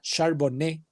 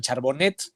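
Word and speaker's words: Charbonnet: el tercero Vámonos con así se pronuncia sharborne es origen francés Este por favor no le digan charbonet Por favor eh de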